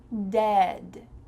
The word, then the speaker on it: dead: And then the short E, dead.